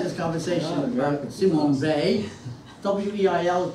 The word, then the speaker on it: Weil: W-E-I-L is pronounced Weil because she was on the French-German border, but she took the French pronunciation.